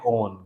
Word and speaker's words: own: थोड़ा सा प्रोनाउंसिएशन में अंतर है। ये है ऑन, क्या है? चौड़ा मुंह करेंगे थोड़ा, ऑन। क्या बोलेंगे? और ये है OWN, ओन।